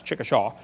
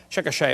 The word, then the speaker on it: Chickasha: it 2005 textbook and I pronounced it wrong as Chickasha nots Chickasaw Chickasha Oklahoma I got corrected during the